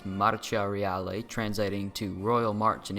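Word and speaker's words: Marcia Reale: out of 10 pronounced in Italian as maraca reali translating to Royal March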